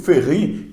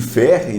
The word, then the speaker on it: Ferry: filósofo francês Luc ferry único Ferri que muita gente chama de Luc ferry né mas ele é francês a pronúncia ele que fez ruim